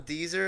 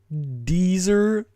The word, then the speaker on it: Deezer: Deezer? I'm sorry, there's a thing called Deezer? Yeah, man. It's the original. What? It's like Weezer, but with a D instead of a W.